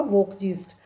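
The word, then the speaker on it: Volksgeist: वोकजीस्ट लिखिए spelling VOLK, जी इसमें भी L साइलेंट होगा, वोकजीस्ट VOLK GEIST, जो बहुत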